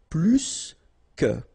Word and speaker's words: plus: in that case, remember, plus will be with the S. So pronounce it plus que.